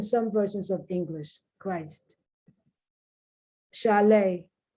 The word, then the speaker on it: chalet: Chalet. Now the T isn't pronounced there because it's French. It's a French word that has now been incorporated into the English language.